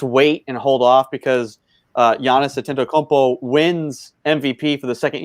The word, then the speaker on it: Antetokounmpo: Giannis Antetokounmpo.